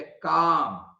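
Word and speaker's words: calm: उदाहरण दिया हुआ है जैसे काम तो क का साउंड आ रहा है पहले और बाद में एल तो साइलेंट है इसमें और म सुना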